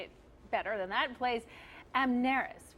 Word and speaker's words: Amneris: Mezzo-soprano Michelle DeYoung, I should say it better than that, plays Amneris, right? Am I saying it right? Amneris?